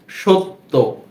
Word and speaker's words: সত্য: তখন কিন্তু এই যে দন্ত স এর সাথে এরূপ মনে হচ্ছে যে একটি ওকার যুক্ত হয়েছে, সত্য, সত্য।